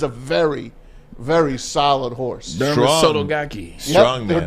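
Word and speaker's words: Derma Sotogake: Derma Sotogaki. Strong, man. Derma Sotogaki.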